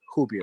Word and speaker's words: Rubia: My wife Hubia is kind of you know, so you know, her name it looks like Rubia, but it's pronounced Hubia with the Portuguese.